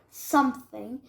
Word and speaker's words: something: Something. So, whoa. Something. You're saying Something. You're saying with the F, like it's like something. No, something.